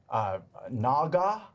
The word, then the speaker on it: naga: beasts and animals that i'd like to slay naga i think that's how you say it that